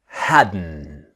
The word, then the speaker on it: hadn't: So the same n of wasn't wherein hadn't the t is silent. Okay. So let's start our practice. Now remember the pronunciation is haden.